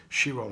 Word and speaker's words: Chiron: Pluto, we think about Mars, we think about Chiron or Chiron, depending on how you want to pronounce it.